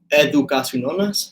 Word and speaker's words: educacononas: It's educaciononas, so like education nonas, but it's a wacky variation of this handle, this Instagram handle that I had a long time ago.